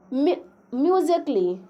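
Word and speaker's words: musically: Rule 13 number है कि यदि ए के बाद डबल एल वाई आए तो ए साइलेंट होता है।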